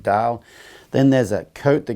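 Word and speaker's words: deel: looking thing called a deal dal i think they pronounce it it's pretty it's spelled d-e-e-l but i think they pronounce it dale then there's a coat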